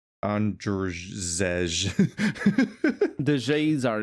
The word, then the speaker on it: Andrzej: how you spell, I don't know how to pronounce this guy's name, Andre Sapkowski. Oh, the writer, right. Andrzej. The J's are E, I don't think always. that's right. Yeah, I'm just gonna say Andre Sapkowski.